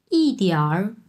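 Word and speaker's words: 一点儿: এটার উচ্চারণ হবে হচ্ছে তিয়ার।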